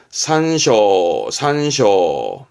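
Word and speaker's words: 参照: 대조해 확인하는 걸 조합한단 말을 쓰는데 발음은 쇼고. 앞에가 참자입니다. 참조하다. 산쇼.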